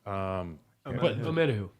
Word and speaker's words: Omenihu: Omenihu. Omenihu. Thank you. Omenihu. I was gonna say Umenihu. There's Owe, there's Omenihu, there's Onyemata.